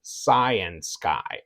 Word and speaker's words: Cyansky: was trying to figure out how do I pronounce the name and they were all saying cyan Sky okay so I go okay Science Guy um